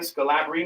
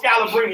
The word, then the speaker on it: Scalabrine: Nate Robinson, Eddie Curry, Brian Scalabrine. I don't even know if I'm saying his name right. Scalabrini. Oh, Scalabrini.